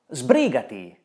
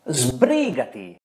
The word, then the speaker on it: Sbrigati: Italian, for example, pronounces S as Z before voiced consonants. Sbrigati! Come on! Sbrigati!